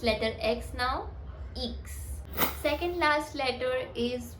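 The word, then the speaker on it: ixe: टू the third last letter which is x which is इक्स इक्स इक्स in French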